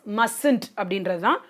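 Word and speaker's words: mustn't: So subject so contractions example is not aren't not have not must not which is wrong correct pronunciation is mustd Do not, don't, does not, doesn't, will not.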